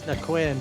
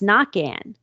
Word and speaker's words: Naquin: And he goes, it's pronounced Knock-An. And he said, yeah, because it's Cajun.